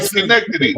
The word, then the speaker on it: Schenectady: Nah, you said it right, Schenectady.